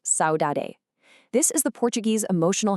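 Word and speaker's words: saudade: Well, the answer to our vocabulary problem is Saoade, pronounced Saoade.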